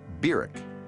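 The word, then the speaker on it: Barack: from Kenya in August of nineteen fifty-nine was birak Hussein Obama that's how he pronounced his name biruk he was welcomed at Hickam Air Force Base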